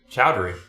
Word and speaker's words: Chowdhury: never know how to say your last name chowdhury chowdhury yeah more than two is just too much